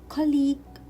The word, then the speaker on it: colleague: not pronounce letter u colleague colleague i will not pronounce letter u and the last word